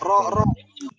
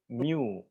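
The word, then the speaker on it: μ: Ro. Bukan ro. Saya bukan ro. Ro itu begini nih. Aduh gimana ya? Ini mu.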